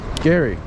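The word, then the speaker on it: Geary: Gary, I don't want to just pronounce it incorrectly. You know, people are gonna be coming here saying, "Hey, where's Jerry Street?"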